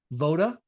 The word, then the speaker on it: Voda: So, Dan is the founder and CEO of the Playbook, My Franchise Playbook, which is also owns a franchise called Voda.